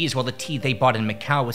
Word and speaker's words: te: This is why across eastern Asia, the Himalayas in Mongolia, the drink would take the name cha or some variation like ja or chai.